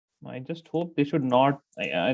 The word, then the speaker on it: naught: example delta h so this zero sign it is pronounced as not okay that is pronounced